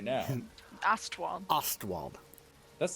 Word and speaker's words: Ostwald: Ostwald. Ostwald. That's not how it's spelled on the map, O-S- yo.